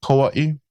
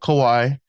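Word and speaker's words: Kauaʻi: Kauaii. Kauaii. Yeah. And some people call it Kawaii even some of the natives. So it depends. I I call it Kauaii.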